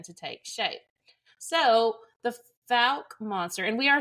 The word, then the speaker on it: Fouke: the Legends began to take shape so the fal monster and we are saying that correctly by